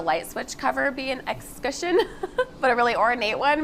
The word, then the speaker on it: escutcheon: pronunciation of that word i was pretty sure there was a heavy french accent going on there i was wrong it's just discussion uh yep but look